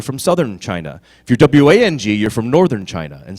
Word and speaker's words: Wang: You know, W-A-N-G and W-O-N-G are both pronounced the same way.